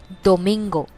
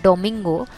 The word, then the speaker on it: domingo: Domingo. Remember, D is always a soft toned version. So it is not domingo, not like dominoes.